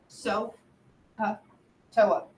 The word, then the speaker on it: SOHCAHTOA: So, normally in English, so is spelled S-O. But we got to have 3 letters. So it's S-O-H. Ka. You can hear the A there.